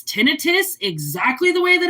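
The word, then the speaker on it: tinnitus: Which most people would pronounce it tonitis. It's not called tonitis. It's really annoying when people call it tonitis. It's tinitus exactly the way that it's spelled.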